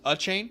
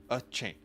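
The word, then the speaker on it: Achane: I have to try it's a chain right like you're about to sneeze a chain correct Devon a chain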